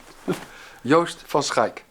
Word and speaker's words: Joost van Schaik: Our engineer Lex will come in and pronounce this fine drummer's name. Joost van Schaik.